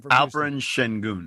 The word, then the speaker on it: Alperen Şengün: Is it Sengun? How do I pronounce the kid's name? Alperen Şengün.